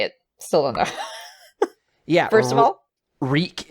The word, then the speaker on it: REC: yeah first of all reek is how we would say it if we were saying the word record I guess that's more of the shorthand in a way because the same pronunciation horrible title for a